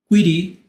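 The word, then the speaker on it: query: con sql structure quy esto se pronuncia quiry Language lenguaje de consultas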